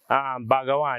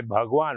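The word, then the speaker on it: भगवान: So instead of you say Bhagawan, you say Bhagwan, which is God, right?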